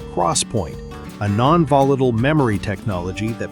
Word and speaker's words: XPoint: In July 2015, Micron and its longtime partner Intel announced 3D XPoint, pronounced Crosspoint, a non-volatile memory technology that promised to revolutionize computing architecture.